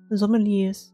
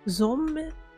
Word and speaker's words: Sommelier: Sommelier. Yeah. Ein Sommelier. Nee, wird französisch ausgesprochen.